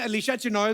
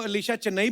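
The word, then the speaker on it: Alisha Chinai: विदेश घूमे हैं लेकिन जिस दिन इन्होंने अलीशा चिनोए को अलीशा चेन्नई बोल दिया था ना तो मेरे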